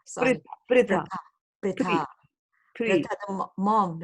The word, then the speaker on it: Pritha: Her name is Pritha. It is as if it isn't Pri. You say Priti, right? Uh-huh. Right? So like that, Right. it's Pritha. Pritha. Right. Pritha. Okay. Pritha. Like Prithvi, right? You don't say Prathvi. Do you say Prathvi? You say No. Prithvi. Similarly, this is Pritha.